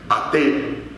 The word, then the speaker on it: Ate: Hay una diosa que era la hija mayor de Zeus, ¿no?, Ate, o Ate, en otras pronunciaciones, que era una diosa